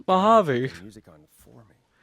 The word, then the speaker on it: Mojave: And I'm like, no, it's Mojave.